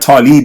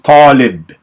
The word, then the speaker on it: Taalib: It's not Taalib. It's Taalib. That's the pronunciation."